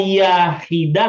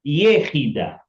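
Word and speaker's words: יחידה: Bacanya bukan yahida tapi yehida.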